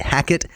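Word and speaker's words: Hackett: a c k TT hacket it rhymes with jacket for example yeah but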